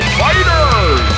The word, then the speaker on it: FighterZ: It's phonetically said Fighter!